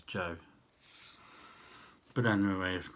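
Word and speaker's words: Sjoerd: say his name before i think it's joe de boer obviously it's got a scandinavian spelling s-j-o-e-r-d but i looked up the translation i'm sure it's joe but anyway if not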